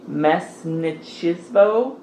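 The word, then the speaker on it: mestnichestvo: And then he also abolished the mesnichismo, which I looked up how to pronounce, and I should be saying that correctly.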